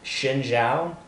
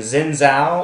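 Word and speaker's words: Xin Zhao: nasus Wukong lein Warwick Shin Xiao Shin Xiao people I'm tired of people saying Zena or Sina or however you say it is shin Xiao X is pronounced as an sh in Chinese get it right off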